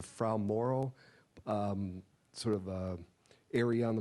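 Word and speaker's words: Fra Mauro: First of all, you were expecting to land, I believe the pronunciation is a Frau Moro, sort of area on the moon.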